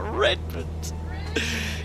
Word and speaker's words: Redmond: madden you is correct he said redmond with pronunciation on the re what redmond congratulations to you uh